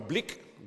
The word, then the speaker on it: Blyk: uh launching imminently in the Netherlands this is Blick that's how it's pronounced about myself I also serve on the